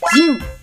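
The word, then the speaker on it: じん: 不会读没关系，但你有没有发现人的发音都是一样的，都读作鲸。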